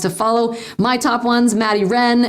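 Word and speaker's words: Maddie Rean: My top ones, Maddie Wren, and that's R-E-A-N. It's the way she pronounces it, Maddie Wren. I had to learn how to pronounce it correctly.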